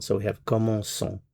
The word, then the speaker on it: commençons: And the reason why we do that is to preserve the S sound. The c'est cedi gives you that S sound. So we have commençons, commençons.